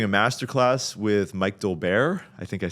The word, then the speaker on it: Dolbear: I've heard the pronunciation out here is different though, so I'm probably butchering that. No, Dolbear. Dolbear. Dolbear. It's like the emphasis is on a different place.